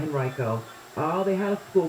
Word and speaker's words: Henrico: This is, I think, Henrico School Board. I think that's how you pronounce it in Virginia. Yeah, Henrico.